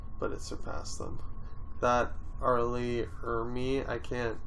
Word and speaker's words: R. Lee Ermy: Arlie Ermy. Just fire. Can You you know how to say say it it? normally? It's R. Lee Ermy.